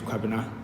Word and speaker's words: Quabina: Hi, my name is Quabina. Yeah, that's actually how you pronounce it, but they call me Quabs.